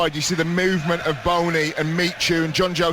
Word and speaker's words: Bony: Phil Jones did have a bit of a debate about how to say Wilfred bony um all of his teammates and his manager have been calling him Wilfried bony on uh particular pronunciation site which suggests is Wilfried bourney but I thought I'd sound a little bit silly saying it like that it's the Sebastian quarz